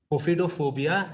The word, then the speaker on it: ophidiophobia: And the next, as Ritu ma'am rightly said, claustrophobia, and this is Ophidiophobia. I searched about the right pronunciation and I was getting different kind of pronunciations everywhere, but it is pronounced as ophidophobia and it is known as fear of snakes.